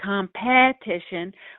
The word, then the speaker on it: competition: We don't say competition. We say competition, and we kind of swallow that vowel. That's a schwa.